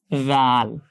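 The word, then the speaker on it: ذ: সা সা ঠিক সেই বর্ণটার মতো করে আরেকটা বর্ণ উচ্চারণ হয় রাল। এটাকে বাংলায় অনেকে জাল লিখে এভাবে, এটা কিন্তু সাবধান, কখনো করা যাবে না। জাল কেন হবে এটা? এটাও জিহ্বার আগা দাঁতের আগার সাথে লাগবে, যেখান থেকে সা উচ্চারণ হয়েছে ঠিক সেখান থেকেই রাল খুব নরম করে রাল, জাল, সা, জাল, জাল, শক্ত করা যাবে না।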